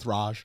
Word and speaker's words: Northridge: It's pronounced about Northraj. Northraj. All right, it's Northraj. Northraj. Yeah, Northraj earthquake. Yeah, Northraj. It's not a hard R.